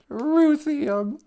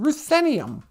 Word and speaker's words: Ruthenium: Ruthium. Ruthenium. I'm saying it wrong. Ruthenium. Boozhoo, Ruthenium.